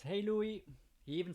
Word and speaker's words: Louis: My son is called Louis, like spelled like the French way, Louis, L-O-U-I-S, which would be Louis in English, but most people in Luxembourg have French sounding names.